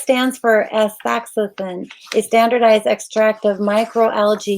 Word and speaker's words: astaxanthin: a toughie if you don't know how to pronounce that. So it is astaxanthin.